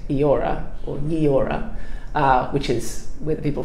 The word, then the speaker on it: Eora: But taking advice from Darug-speaking peoples, we decided to change it to Yeora. My friend Pauline was also telling me that this was also a little bit more gender inclusive, to be able to add that particular vowel sound at the beginning as well.